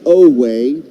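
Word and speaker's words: Oweh: spelled o w and pronounced oay like no way but without the end he fires and hits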